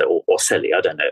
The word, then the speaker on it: ocelli: think it's pronounced Australia it's the Italian word so I'd say or silly I don't know o